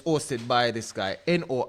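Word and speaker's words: N.O.R.E.: And it's hosted by this guy, Nore. I can pronounce as Nor and DJ EFN, and some other guys.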